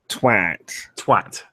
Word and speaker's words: twat: So if you put a TW in front of those, how should it be pronounced? A TW in front of... A and T, it would be... No, but it's twat. It's not T. What is? It's not T. It's not TWHAT. No, it's twat.